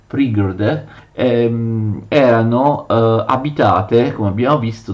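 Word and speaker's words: пригороды: Le città vicine, che venivano chiamate Prigorode, si scrive così e si legge Prigorode, erano abitate, come abbiamo visto, dai parenti del Gran Principe di Kiev.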